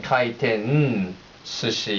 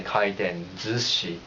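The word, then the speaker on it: 回転寿司: for the test, but ending with N, kaiten sushi is kind of hard to say. So Japanese people, colloquially speaking, they say kaiten zushi, Z-U-C-H-I, in terms of pronunciation.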